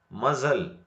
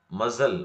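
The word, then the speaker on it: muscle: ಮಜಲ್. ಮಜಲ್ ಮಜಲ್ ಅಂದ್ರ ಮೌಸಖಂಡ. ಇಲ್ಲಿ ಸೀದ ನಂತರ ಎಸ್ ದ ನಂತರ ಸಿ ಬಂದ ಕಾರಣಕ್ಕಾಗಿ ನಾವು ಸಿ ಅನ್ನು ಉಚ್ಚಾರಣೆ ಮಾಡಬಾರದು.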